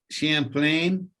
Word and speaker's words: Champlain: So now you moved on to the Lake Champlain.